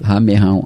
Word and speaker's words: ramerrão: Ramerrão é uma expressão pouco usada, isso aí. E eu me lembrei dela agora, mas só eu não sabia como pronunciar. São com 2 R's. 2 R's, ramerrão.